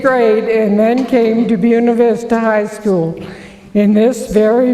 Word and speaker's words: Buena Vista: names requested that it be pronounced the american way buena vista instead of the spanish bueno lista most of the natives